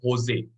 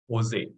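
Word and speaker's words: José: to pronounce him as Jose Jose I wish to ask him yeah Jose that J is pronounced as H I wish I could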